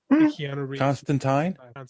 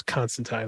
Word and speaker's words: Constantine: I believe the origin the original pronunciation was Constantine but then American so in America the emperor I don't believe anyone referred to the Emperor as Constantine I believe he's always been Constantine but I don't know